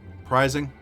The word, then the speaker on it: prising: at least western people it's pronounced like prying with an s interesting prizing yeah if you consider